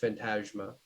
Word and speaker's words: Phantasma: It's Phantaz SMA, but it's pronounced Phantasma.